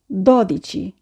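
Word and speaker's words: dodici: 10 11 12 Italian সংখ্যার 12 বলার ক্ষেত্রে আমরা একটু খেয়াল রাখবো, আমরা বলবো না দোদিচি, আমরা বলবো দদিচি। অনেকেই আমরা বলে থাকি দদিচি, তো এই ব্যাপারটিতে আমরা খেয়াল রাখবো। আমরা বলবো দদিচি, ত্রেদিচি, quattordici।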